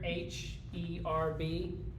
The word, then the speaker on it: herb: with this word here, H-E-R-B, because my wife and I pronounce this differently. I'm an American. I pronounce this word with the E first.